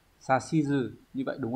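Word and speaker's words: 指図: Thế nhưng mà người ta vẫn hỏi bởi vì là cái từ này nó sẽ đọc đặc biệt. Từ này chúng ta sẽ đọc là gì nhỉ? À, chúng ta sẽ đọc là sashizu.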